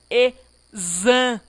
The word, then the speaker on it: exame: Olha aqui o X da palavra exame. O X está fazendo um papel na pronúncia de Z. Então, nesse caso, o X possui um fonema, um som de Z.